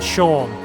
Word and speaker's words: Seam: The name Seam pronounced Sha.